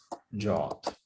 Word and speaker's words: JWT: Actually, Wikipedia tells us that JWT should be pronounced as JOT. I'm uncomfortable with that, so it's JWT.